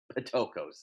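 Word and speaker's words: πτωχός: Okay, in the Greek, it's the word tokos, but it's spelled like PT. Patokos is the way we would read it, okay?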